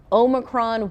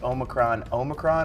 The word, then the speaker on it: Omicron: I'm curious whether they pronounce Omicron or Omicron, because you know there's. The proper way is Omicron. It's Omicron, I believe, right from the Greek alphabet, right?